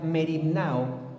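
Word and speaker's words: μεριμνάω: Esta palabra, hermanos, en griego se llama, bueno, se pronuncia mernao.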